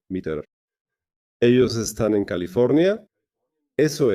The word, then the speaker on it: METR: Se escribe M-E-T-R, MITRE. no es meta como meta. No es meta como meta, sino metro, MITRE.